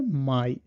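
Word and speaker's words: Mai: উচ্চারণ হয় জার্মান ভাষায় মাই। সো এআই এর উচ্চারণটাও হলো আপনার আয়ের মতো, মানে প্রথম যুক্তবর্ণটার মতোই সেম।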